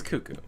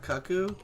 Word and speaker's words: cuckoo: cuckoo I see well it's Kaku no it's cuckoo One Flew Over the Cuckoo's Nest it's not Kaku no it's cuckoo One